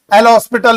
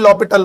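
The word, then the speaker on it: L'Hôpital: देखिए बोलने में कोई दिक्कत नहीं, एल हॉस्पिटल, इसमें दोनों चीजें जो है साइलेंट में रहता है, अच्छा और एस, इसलिए बोलते हैं लॉपिटल रूल, ठीक है।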